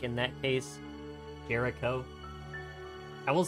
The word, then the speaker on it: Jericho: So like in that case, Jericho. I will say keep in mind that the CH is pronounced like a C, but to be fair,